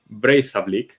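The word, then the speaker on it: Breiðablik: team from Iceland which I looked up the pronunciation it's brazoblique so like that little weird uh symbol in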